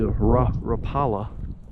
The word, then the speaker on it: Rapala: I also broke out this gold broke back rapa as y'all boys say I'm a southern boys would call it the rapala but I believe it's pronounced rapa.